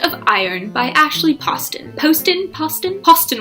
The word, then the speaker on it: Poston: Poston rhymes with Austin.